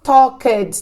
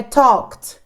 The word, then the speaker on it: talked: Claro que não falamos talked, tá, galera? Eu estou falando tão acentuado assim as coisas para vocês verem o final. Mas a pronúncia, vamos entrar nisso também, é talked, talked, como se fosse um T, tá?